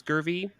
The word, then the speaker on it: Gurvey: we have a very special guest Dr gurvey and now am I pronouncing that right it's gurvy that's correct awesome and Dr gervy is a